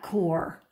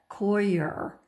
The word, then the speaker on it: coir: seed planting is coconut core. Some people will say coconut core. I think the correct pronunciation is coconut coir.